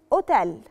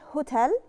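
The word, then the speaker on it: hotel: جوريلا اللي هي الغوريلا اكا اسم الحرف عكا ومالوش نطق لانه ما بيتنطقش في اي كلمه بيجي فيها في اللغه الايطاليه لعلاته يعني ما بتتنطقش ابدا اي كلمه الاقي فيها الحرف اكه ما بنطقوش وبنطق الحرف اللي وراه مثال عليها كلمه اوتيل ما بتتقالش هوتيل بتتقال اوتيل لاكترا ايه ايه ايه ايه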